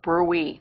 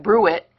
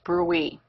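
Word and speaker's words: bruit: Now the last one is called brewy. That's the appropriate pronunciation. It's not brew it, it's brewy.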